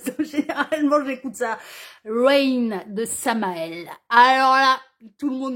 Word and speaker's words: Samael: Sans difficulté, hein, Samael comme ça se prononce, hein, enfin voilà, hein, R-A-I-N pour Rain et Samael, S-A-M-A-E-L, et vous allez voir les paroles,